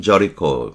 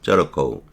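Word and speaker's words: Jericho: 한 남자가 예루살렘에서 예리코라고 하지만 발음은 저리코 이렇게 하겠지만 저리코 예루살렘에서 예리코까지 여행했다.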